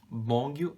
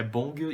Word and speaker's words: Beomgyu: É Bongyu e Taeyeon. São os nomes que eu tava pronunciando errado. Eu sempre lembrava do Taehan e eu falava Taehan achando que era a mesma pronúncia, mas é Taeyeon e Bongyu.